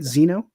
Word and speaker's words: Xeno: Am I saying it right, Xeno? Yeah, that is that's the correct name. Cool. So the floor is yours, man. Give us a little introduction and then how you became part of Xeno.